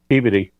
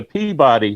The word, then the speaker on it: Peabody: you know how do you pronounce PEABODY? Peabody.